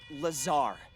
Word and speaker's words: Lazar: and it sales liazon it's Lazar actually the accent on the Zar but yes I'm your